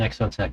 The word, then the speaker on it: Exotech: Got the Exotech. Exo Tech. I said the brand name wrong. I said exo XO caged is a different brand, a different RC brand.